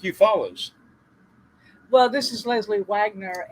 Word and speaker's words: Eufaula: spelled the same way but this is like you follow in uh southeast alabama southwest georgia all right